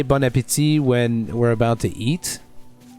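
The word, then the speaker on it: bon appétit: Some people actually think it's pronounced like bon apple teeth or something like that, apparently. It's weird. Bon apple tea. Yeah, or that. Bon appetit. Bon appetit. That's how we say it.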